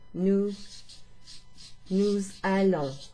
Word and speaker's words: nous allons: It sounds like a Z sound, okay?